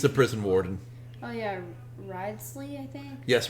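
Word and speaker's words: Wriothesley: Ridesley, I think? Yes, Risley. Yeah, I can pronounce things.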